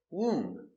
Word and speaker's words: womb: Womb. No book, just womb. Womb. The baby is in the womb for 9 months. Pronunciation. Womb. WW long woo womb womb.